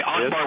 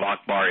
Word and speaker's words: Akbar: Therefore, the pronunciation of Akbar is not with a K, but with a CH sound.